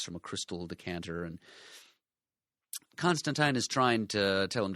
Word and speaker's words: Constantine: Alan Moore went out of his way to tell us that it's Constantine, rhymes with sign.